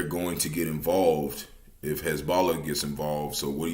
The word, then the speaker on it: Hezbollah: Yeah, Hezbollah.